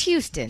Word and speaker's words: Houston: It's Houston. Houston, but it's Yes. spelled Houston. It's spelled Houston.